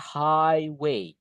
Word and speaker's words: highway: Don't forget ghnya enggak dibaca. Dalam bahasa Inggris, GNH itu kadang-kadang dibaca F kadang-kadang enggak dibaca. Jadi enggak dianggap gitu, Guys, ya. High way. Jadi bacanya gini, high way ini ya. High way. Iya, iya. Enggak direken, enggak dianggap, Guys. GH-nya itu ada tapi enggak dianggap ya.